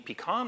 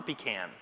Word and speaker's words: pecan: like change the pronunciation do you mean pecan or pecan you can say it either way and that works great